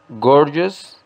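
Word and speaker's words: gorgeous: espléndido para su pronunciación gorius lleva la acentuación o la fuerza de pronunciación en la primera sílaba word gorius y como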